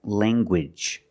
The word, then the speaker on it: language: hard g sound, like language. Language. You have the nasal sound, lang, and the hard g.